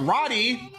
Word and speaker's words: Radi: ] playback we have Roddy um I think that's how you pronounce it r-a-d-i um oh my God